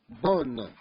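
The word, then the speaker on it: bons: Bonne. Bonne. In masculine plural. Bon. Don't pronounce the S.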